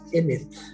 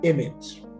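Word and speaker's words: אמת: Bien, la alef se pronunciaría como una A o como una E.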